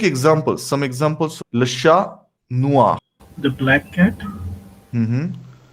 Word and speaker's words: noir: So we are not pronouncing R here much, right?